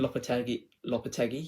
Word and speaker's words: Lopetegui: Julian Lopetegui, yeah, I pronounced it right now this time.